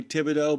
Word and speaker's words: Thibodeau: Real Dean Croke, Dave Nemo, Phone Master Dre, Andre Thibodeau. By the way, that is spelled with that funky end to the O sound as opposed to Nemo.